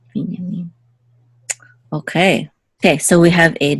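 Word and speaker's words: בִּנְיָמִן: the last syllable, and also with Benjamin, accent on the first syllable, but in Hebrew it's Vinyamin with accent on the last syllable. Vinyamin.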